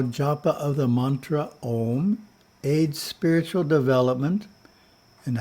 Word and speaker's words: Om: When we chant the mantra Om and do it correctly, we pronounce the A so that it vibrates the physical body. The U has to vibrate through the throat area and the the head.